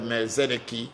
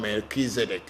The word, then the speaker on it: Melchizedek: there was a christ which is called the mercenary as in the american pronunciation and we in the african pronunciation called melchizedek i don't know whether